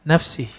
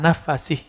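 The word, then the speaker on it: نَفَسِه: La yajidu riha nafsi nafsih. Eh yang benar ini riha nafasih. Tidaklah orang mendapatkan bau daripada nafasnya. Kalau sini kan nafsih ya. Saya membacanya nafasih.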